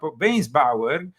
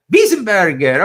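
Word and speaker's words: Weisenburger: The article concerns Archbishop Weinsbauer. That was, do you pronounce it like that? No. Weisenbauer? Burger? Wiesenberger.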